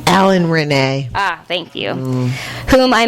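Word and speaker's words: Alain Resnais: Alan Renee.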